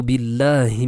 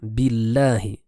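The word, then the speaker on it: بالله: Ensuite, nous avons aussi comme erreur courante le fait de dire billahi, billahi, alors qu'ici, le nom d'Allah Azza wa Jal se prononcera de manière légère. Billahi.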